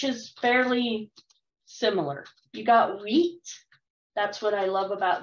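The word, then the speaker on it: huit: fairly similar you got wheat that's what i love about this word is it's pronounced wheat in french diese is 10 and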